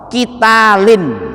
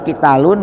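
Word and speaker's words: قتالٍ: yasalunaka Anis Sahril haram kita LINE nah ini dibacanya kita Line Bu gak boleh kita Lun gak boleh kita Lan Kenapa dibaca kita Line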